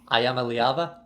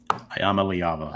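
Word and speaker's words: Iamaleava: I know you gave me the correct pronunciation. Can you help me here. Ayama Liava. Ayama Liava.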